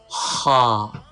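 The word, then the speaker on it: ه: Ha is pronounced from the upper part of the throat.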